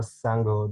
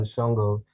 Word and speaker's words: Sango: of the sango coin i believe it's actually pronounced more sango than shongo and i do believe